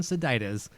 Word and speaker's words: Sadites: So, okay, so Jason Sadites, there we go.